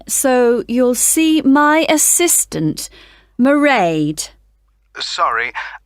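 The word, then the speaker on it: Mairead: be working then so you'll see my assistant marade sorry how do you spell that it's m a i r e a d marade okay got that it's not a name I'm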